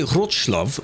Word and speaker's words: Wrocław: Yeah, I've said it wrong because I've said it in the English way. I'm not going to say Wrocław or something, which is basically what it's meant to be.